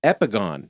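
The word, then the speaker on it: epigone: I Googled it and the Google pronunciation is epigon epigon and I was like what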